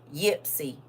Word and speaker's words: Ypsilanti: Ypsilanti. How do you say it? How do you say that? Ypsilanti. Ipsy. Well, that's where he said he at. Is that like a little bitty town? Ypsilanti. Ypsi.